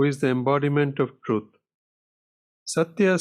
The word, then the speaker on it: Satya: Satya, says Sai Baba, consists of 3 syllables, Sa, Ta, and Ya.